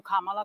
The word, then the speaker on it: Kamala: about hurricane Helen Kamala and I'm calling you kamla because for all of those who are mispronouncing it I want you all to know